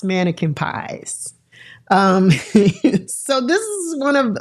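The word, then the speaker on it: Manneken Pis: And the fountain is called Mannequin Pies. But pies is spelled P-I-S. So it looks like mannequin piss. But it is pronounced Mannequin Pies.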